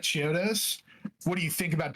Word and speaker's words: Chiodos: Chiaos. Is that Is that how you pronounce that? Bro, get it right. Well, you read it then. Jeez. Hi. So, you like Chiodos?